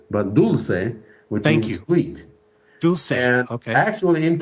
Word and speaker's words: Dulce: in Spanish ah okay and so actually the pronunciation is not Dolce but dul which sweet dul actually in California there's a